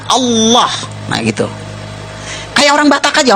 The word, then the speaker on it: Allah: Cuma dia membacanya, ngejanya beda sama kita. Kalau kita cukup Allah gitu, kayak bercanda sama teman aja. Alah lu gitu aja. tersinggung gitu ya kayak begitu ringan gitu bacanya itu ringan tapi kalau mereka itu terpengaruh dengan bahasa Arab jadi enggak ringan Allah nah gitu kayak orang Batak